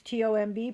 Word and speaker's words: tomb: It's T-O-M-B, pronounced tomb.